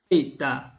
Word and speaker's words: theta: It should be theta, with your tongue between the teeth. And please puff less air when saying the syllable ta. It should be da, not ta.